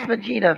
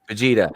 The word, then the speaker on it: Vegeta: Is that pronounced Vegeta? Is it Vegeta? Vegeta? That's Vegeta from Dragon Ball Z. Vegeta.